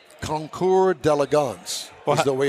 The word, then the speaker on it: Concours d'Elegance: Anyway, this is at the Lakewood Yacht Club, and it's the annual car and boat show, Keels and Wheels Concours d'Elegance.